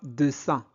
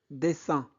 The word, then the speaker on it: dessin: Ne prononcez pas dessin. E suivi de deux consonnes se prononce E. Des, dessin.